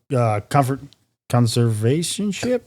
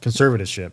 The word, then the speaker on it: conservatorship: And then 08 was when her breakdown led to her court-ordered conservationship? Yep. Conservatorship. That's how you say it. Conservativeship.